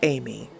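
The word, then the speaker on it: Ami: Her name is Amy. Well, it's spelled A-M-I, that's not alarmingly weird, so you force yourself to ignore it.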